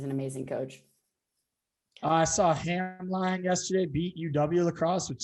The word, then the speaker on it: Hamline: Yeah, and fun fact, it's Hamlin. Oh, I always say it wrong.